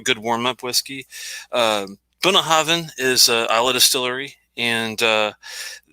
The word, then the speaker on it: Bunnahabhain: And this one is the Bunnahabhain Stiuireadair.